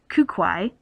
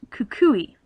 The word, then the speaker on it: Kukui: So, as I have the benefit of time to research, I know that the professor, who I was calling Kukwai, actually is pronounced Kukui.